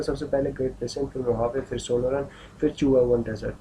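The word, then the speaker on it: Mojave: अब ये मोजावे, जे इसमें साइलेंट रहता है, एच आता है, इसको प्रोनाउंसिएशन इसकी होती है मोहावे डेजर्ट।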